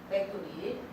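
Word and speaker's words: Factory: 네, 또 원어로 팩토리. F가 P 발음이 아니에요. 팩토리.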